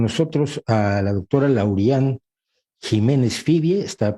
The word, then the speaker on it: Ximénez: Igual yo no sabía si era Jiménez, porque aquí en España a la X la pronuncian como She también. La doctora Lauriane Jiménez Fibie, que es fundadora